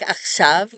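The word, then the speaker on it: עכשיו: So to indicate that it is a V sound at the end, a yod is placed before the vav. You don't hear this yod at all.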